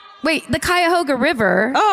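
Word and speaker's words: Cuyahoga: Kyhoga. Kyhoga. That's like that. Anyone? Wait. The Kyhoga River.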